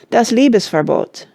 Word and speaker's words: Das Liebesverbot: Here is a list of the operas by Richard Wagner, with their names pronounced. The Fairies, 1833. Das Liebesverbot, 1836.